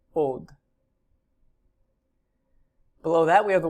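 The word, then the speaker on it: עוד: Below that is the word translated again, still, another, or more, and that is pronounced od.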